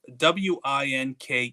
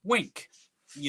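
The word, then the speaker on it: Winke: I uh There's a character somewhere in the Zombie Fallout universe uh w i n k e is name. I I it in my head, this guy's name is Wink. You know, um, that's, you know, not a common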